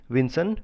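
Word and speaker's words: Vinson: गया है mount विजन है ठीक है इसका स्पेलिंग आप लोग लिख लीजिए mount विंसन वी आई एन एस ओ एन मासिफ एम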